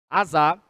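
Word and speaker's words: עשה: Azá. Azar. Olha aí, ó, como escreve. Azá. A pronúncia é a É como se fosse sa e o acento agudo no último a, a significa produzir, manufaturar, fabricar.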